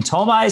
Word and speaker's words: Ptolemy: the king there was King Ptolemy, spelled with a P. The P is silent.